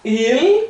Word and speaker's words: il: Vou falar il, com dois L's, o L coladinho no céu da boca, né? Il.